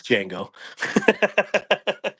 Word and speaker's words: Django: That's a Django, right? It is the Django. Yes. I hear so many people pronounce it. Yeah, it's Django.